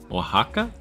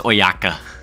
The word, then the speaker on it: Oaxaca: Oaxaca? LMAO, but I like your way better? Bro, that's Oyaka. Come on, dude. Why would there be an O if it's spelled or pronounced Oaxaca?